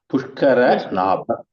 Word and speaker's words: Pushkaranabha: In this was the word Pushkaran Ramba. Sorry, Prabhuji. Mataji, we can't hear you. No, I'm speaking. Sorry. Pushkaramba Sammatau is significant. Wait. I'll tell you how to pronounce it. Pushkara Nabha. Pushkaranabha Okay.